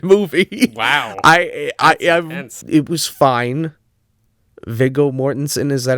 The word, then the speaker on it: Viggo Mortensen: Viggo Mortensen, is that how you say his name?